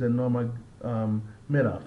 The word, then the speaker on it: Nurmagomedov: Actually, it's Nurmagomedov.